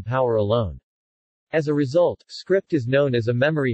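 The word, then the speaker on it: scrypt: litecoin however uses the script algorithm originally named as s crypt but pronounced as script this algorithm incorporates the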